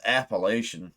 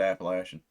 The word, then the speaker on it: Appalachian: They call it Appalachian or Appalachian, however you want to pronounce it. I've always said Appalachian, but it's some dark grunge Appalachian kind of riffing that goes on.